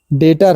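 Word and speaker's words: debt: क्या सटल पढ़ेंगे य डेट है बीटीई भी साइलेंट होता है डेट है ओनली य तो आज का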